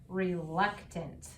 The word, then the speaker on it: reluctant: to remember is that when I see the a NT pattern and it's be being used in a word that's more than one syllable this is also going to use the schah sound instead of saying ant it's going to say in in are you ready to